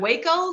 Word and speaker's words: Waco: And then I was going to say that was an O, but, look like Waco, like in Texas, like with a long A.